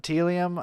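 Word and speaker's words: Tealium: on our list uh I'm GNA go with telium yep that's how you pronounce it so yep telium um they really so I talked about how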